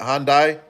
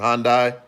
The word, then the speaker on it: Hyundai: Hyundai. That's that's how you pronounce it. Hyundai.